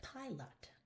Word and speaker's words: pilot: Which side's louder and longer? Pilot. Do you hear how it's pi? So that means that the lot is not the important syllable. So even though it is, LOT would be a perfect doubling situation, we don't apply the rule because the pi is the more important syllable.